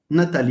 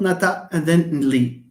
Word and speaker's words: Nathalie: Nathalie. How many syllables are there in Nathalie? Nathalie. 3. We can sing by knocking on the table. Nathalie. It's not Nata and then Li.